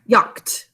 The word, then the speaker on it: yacht: The ah is at a ah, and then k, the silent k is ch and t. Please write yacht.